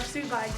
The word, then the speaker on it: sous vide: It looks like it's pronounced sous vide, but it looks French. If it's sous vide, sous vide, sous vide, Sous vide? Yep.